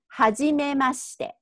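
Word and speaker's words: はじめまして: So that pronunciation will be hajimemashite. Hajimemashite. But that sounds like a robot. So I have to make it a little bit more natural sounding, which is hajimemashite.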